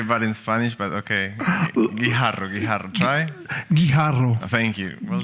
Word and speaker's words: Guijarro: I tried to pronounce his surname earlier on, butchered it. So you can tell us. Guijarro.